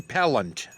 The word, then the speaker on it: Pellant: That's how Brent's name is pronounced, Brent Segrist, and it's Jen Pellant. Pellant. Oh. Like Pellant. repellent.